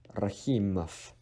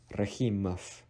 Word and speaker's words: Rahimov: Russian last name, and anything that ends with OV in Russian, actually it is pronounced as F. It's like F. Rahimov. Rahimov. This situation only applies when V is placed at the end of a word.